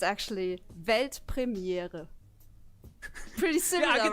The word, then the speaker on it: Weltpremiere: It's actually Weltpremiere. Pretty similar, right? I think I could do that. Yeah. Do it. Weltpremiere.